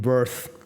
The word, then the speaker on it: Wirth: As in Americans pronounce his name Worth. Yeah, that's Worth and Wirth.